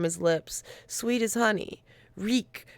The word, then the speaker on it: Reek: Reek, Reek, it rhymes with sneak.